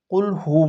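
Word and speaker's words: قُلْ هُوَ: অধিকাংশ মানুষ আমি দেখছি সূরা ইখলাস ইখলাস যখন পড়ে কুলহু মধ্যে কুলহু বলে কুলহু আল্লাহু অধিকাংশ মানুষ আমি অনেক জায়গায় দেখেছি। কুলহুর জায়গার মধ্যে ফু উচ্চারণ করে।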